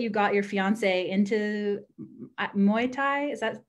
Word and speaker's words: Muay Thai: So cool that you got your fiance into Muay Thai.